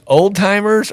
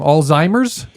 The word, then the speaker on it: Alzheimer's: headline right now um reduce Oldtimer or Alzheimer's yeah I know I said it wrong Alzheimer's Alzheimer's Alzheimer's that is